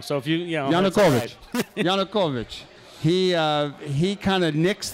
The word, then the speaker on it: Yanukovych: And then the president, how do you pronounce his name? Yanukovych. So usually they pronounce it wrong. So if Yanukovych.